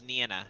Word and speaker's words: Nyna: Nyna? The Japanese pronunciation is Nina.